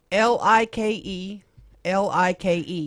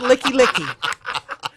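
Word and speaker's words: Likelike: ready for this no no l i k e l i k e and they pronounce it I don't know I pronounce it licky licky of course you they don't like that when I say licky licky there's a Street downtown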